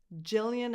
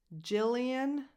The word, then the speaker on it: Gillian: Gillian Anderson. Gillian. That initial G doesn't have a hard G sound, but a soft J sound. So Gillian.